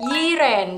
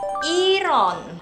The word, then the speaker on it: Yiren: Itu ada Yiren. Jadi seringnya dipanggil Yiren karena tulisannya Y-I-R-E-N. Orang Korea nyebutnya bukan Yiren, tapi Iron.